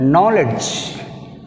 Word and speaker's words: knowledge: Next word, knowledge. Knowledge, K silent.